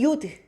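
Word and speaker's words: יוד: 그다음에 요드, 요드는 뭐 영어 ear 할 때 요 발음하고 비슷하다고 봐주시면 돼요.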